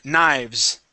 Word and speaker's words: knives: lives lives okay and here this is uh knives knives knives very yeah very good